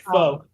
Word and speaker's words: pho: But yeah, If only I had pho. Pho? Yes. Pho. It's pronounced pho, you fucking idiot.